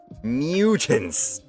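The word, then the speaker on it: Myutant: It's just spelled with a Y. M-Y-U-T-A-N-T. Mutants.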